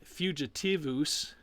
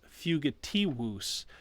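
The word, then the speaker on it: fugitivus: the fugitives it's not it's not fugitiveus it's fugitivous so you have that double u sound the fun one with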